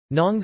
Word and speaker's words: ng: Ayan ang mga damit ko, those are my clothes, are abbreviations that are pronounced nong na and manga ma.